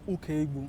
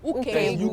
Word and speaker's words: Ukaegbu: You spelled, that's, then Ukaegbu. Ukaegbu. Ukaegbu.